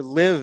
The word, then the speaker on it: Live: I have the the vinyl here uh her live album which I would have assumed it was